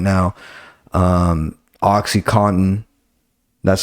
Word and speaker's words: OxyContin: of the most popular drugs right now um Oxycontin that's how you correctly pronounce it it's not Oxycontin watch fucking painkillers on Netflix it'll teach you